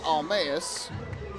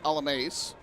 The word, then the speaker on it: Alamace: Yesterday, accidentally called him Stephen Almaeus, but was notified today that the actual correct pronunciation, Stephen Alamace.